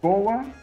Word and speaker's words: boa: You say boa. Boa. Boa. We put a little U there. Boa. Boa. You know? Boa.